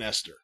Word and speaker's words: Esther: Esther. All right. How else do you pronounce it? Oh, Aunt Esther. The H is silent in Esther.